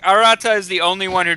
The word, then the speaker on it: Arata: by the way yes and the name is pronounced Arata AR katari right right anyways ar oh God